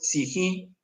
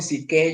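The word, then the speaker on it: ψυχή: Entonces, la mente que en griego es si jí, eh, algunos ponen si que, yo sé, no, pero sií es la pronunciación correcta, eh, es más esto del alma y sus pensamientos.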